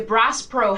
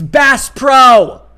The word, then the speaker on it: Bass Pro: lives matter sticker a brass pro hat she doesn't even say it right it's bass pro and these people are